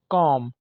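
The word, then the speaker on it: comb: भी B silent है कॉम कंगी करना इसमें भी बी साइलेंट है ऑनलाइन इंग्लिश क्लासेस के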